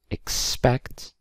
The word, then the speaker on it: expect: okay then we have expect expect these stress is on facts or ECT rather so expect and we